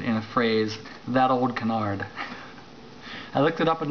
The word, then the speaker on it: canard: on it which is Canard see a n a r d in French it's canar I'm sure you don't say the D canar but uh it